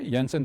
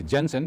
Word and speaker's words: Jensen: yansen s diverence okay yansen we don't pron we don't say Jensen we call it yansen because a Dennis guy so the J is pronounced as y so yens diverence or